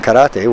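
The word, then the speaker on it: 唐: was to change that first character from To, which can also be pronounced Kara, to what we now know as Kara, or empty hand.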